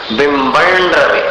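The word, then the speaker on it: बिम्बं रवे: जैसे स्पष्टोल्लसत् किरणमस्ततमोवितानम बिंबन रवेरिव पयोधर पार्श्ववर्ती। बिंबम का जो अनुस्वार है उसको र में मिलाना, बिंबन रवे, ऋण जैसा उच्चारण हो जाए, ऋण के समान।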